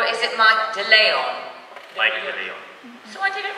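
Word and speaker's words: Mike de Leon: Mike Delay on. So I did it right. Mike Delay on. Delay on. Delay on. Because it's in the last syllable.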